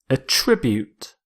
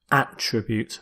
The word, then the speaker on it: attribute: your first word is a tribute a tribute it's a verb so with this verb you stress the second syllable it also works as a noun where you stress the first attribute but here as a